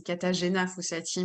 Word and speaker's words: Katarzyna Fossati: Alors, pour la vraie prononciation, allez, c'est Katarzyna Fossati, mais Katarina, bon, enfin, ouais, bref, je réponds à toutes les dénominations, j'ai l'habitude, vu l'orthographe du prénom.